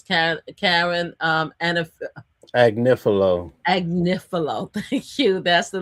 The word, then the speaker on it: Agnifilo: Anifilo. How do you pronounce his last name? Agnifilo.